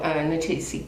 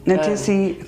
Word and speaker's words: Ta-Nehisi: Oh, Ta-Nehisi. Ta-Nehisi Coates.